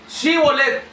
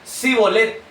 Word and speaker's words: Shibolet: Shibolet. S h. Sivolet. Ellos solamente podían pronunciar cbolet. Ese sin H.